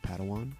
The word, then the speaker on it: padawan: to this bold jedi it's pronounced padawan oh padawan excuse me